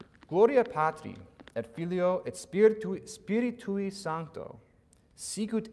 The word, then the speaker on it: filio: me Gloria patri it's filio it's yeah one more time because there's that you're not maybe anticipating that I on the end to be its own syllable it is okay I'll